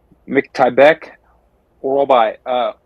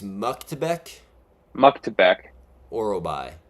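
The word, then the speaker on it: Myktybek Orolbai: Miktybek Orobe. Close. So it's Orobe. It's Muktebek Orobai.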